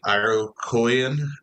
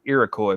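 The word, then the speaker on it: Iroquois: native tribes like the Cherokee, the Shauni, the Arocoyan. Um they all had uh traditions that kind of gave the early landscape a meaning like it wasn't just that's pronounced Irakcoy, my friend.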